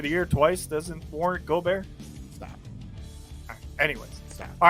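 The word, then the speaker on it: Gobert: bear yeah goldberg listen my wife is french you better pronounce that hey man but when you start playing like the frenchman that you are then you'll get the name go bear but until then your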